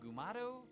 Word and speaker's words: Mugato: readings or they're sick so I was reading up on the mugat did you know they have alternative pronunciations mugatu Mugu and gumato isn't that need an